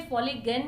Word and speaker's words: Foligain: और प्रोडक्ट का नाम है फॉलिजन। कई लोग इसे फॉलिगन भी कहते हैं, स्पेलिंग है FOLIGAIN। I like calling it फॉलिजन, it goes well with collagen.